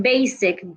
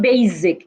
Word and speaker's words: basic: have it in basic the s in basic does not sound like Zed it's not basic it's basic Baff put your tongue